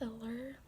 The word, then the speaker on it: Allure: She had like I think it was like a 5-minute makeup tutorial with Allure, that's how you say it, the makeup brand, years ago.